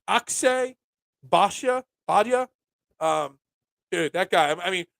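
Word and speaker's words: Akshay Bhatia: Akshay Badia.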